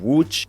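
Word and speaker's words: Łódź: out for third place is the city of wuch which means boat yes and i also mentioned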